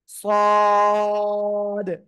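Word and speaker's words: ص: এই অক্ষরটা উচ্চারণ করব এ অক্ষরটা জিহ্বার আঘাত সামনের নিচে দুই দাঁতের পেট ও আগার সঙ্গে লাগাবেন লাগিয়ে উচ্চারণ করবেন মোটা আওয়াজে সবাই একসাথে জোরে বলেন মাশাল্লাহ সুন্দর হয়েছে অনেকে ছাদ বলেন ছাদ বলা যাবে না সদ এভাবে উচ্চারণ হবে এরপরে এই অক্ষরটা উচ্চারণ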